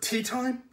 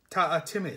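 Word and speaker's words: Teatime: Tea Time? It's pronounced Ta-a-Timmy, sir, said Ta-a-Timmy with just a hint of reproach. Everyone gets it wrong, sir.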